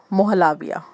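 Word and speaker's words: Muhallabia: तो मेरा दिल था कि मैं ये ले लूँ मोहलाबिया, मोहलाबिया ऐसे ही प्रोनाउंस करेंगे, मोहलाबिया।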